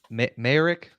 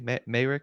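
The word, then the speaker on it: Mayerick: um illustrated by Val Merrick m-a-y-e-r-i-c-k Maric yeah Merrick whatever that sounds about right I think I think Merrick's uh is is the correct way to pronounce it but yeah um debuted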